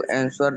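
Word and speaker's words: answer: I have to आंसर the question. आंसर नहीं W silent है और आर भी साइलेंट है। आंसर आंसर ना तो वो बोलेंगे ना तो र बोलेंगे।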